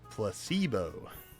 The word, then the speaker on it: placebo: The stress is on the middle syllable. Placebo.